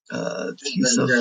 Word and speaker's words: Tisa: I'm assuming it would be the same as like Lisa. Just take the T or take the L out and put the T in there.